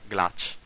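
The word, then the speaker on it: glaç: It is always pronounced like the English CH, chi, like glach, that means ice.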